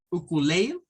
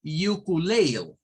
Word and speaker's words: ukulele: patrón digamos de inglés si esa primera u se pronuncia como you o se pronuncia como u pero el resto o